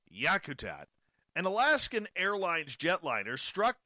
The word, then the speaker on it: Yakutat: golly she says where's my glasses no it's yakutat an Alaskan Airlines jetliner struck down a brown